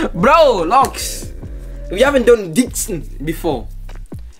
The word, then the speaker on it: Deeqsan: We haven't done Deeqsan before. It's Deeqsan. It's Deeqsan, nah. Now you know how to read it. Nah, I've been, you know. It's Deeqsan. It's Deeqsan.